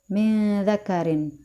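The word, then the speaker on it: مِنْ ذَكَرٍ: Selanjutnya adalah hukum ikhfa, yaitu pada kalimat min dzakarin. Nun sukun bertemu dengan huruf dza ya pada kata min dzakarin. Dibaca dengung dan ditahan 3 harokat.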